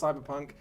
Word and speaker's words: CBR+PNK: We are playing this game, which you could pronounce Cyberpunk. That's not how it's written, though. It's pronounced CBR plus PNK. Let's all have a crack at pronouncing that on 3, 3, 2, 1.